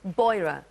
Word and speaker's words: Beurer: us some fantastic products do I pronounce it burra boira boira yeah please tell us about